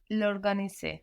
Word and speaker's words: l'organiser: I don't pronounce the Show vowel. me. Tu dois l'organiser.